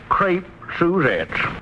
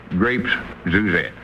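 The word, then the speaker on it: crêpe Suzette: How do you pronounce that name again? Crepe Suzettes. Grapes Suzette.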